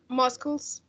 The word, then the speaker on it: muscles: okay number four number four is plural uh muscles muscles musle muscles muscles muscles uh see is not pronounce here number five it's a bones bones